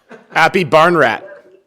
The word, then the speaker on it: Aphibarnrat: been talked to me a couple times he pronounced my name my last name perfect happy barn rat me he know me before his mom being